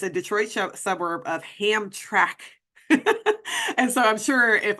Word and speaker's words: Hamtramck: Hamtramck. Hamtramck. Did I get it right that time? Hamtramck. Okay, so Hamtramck.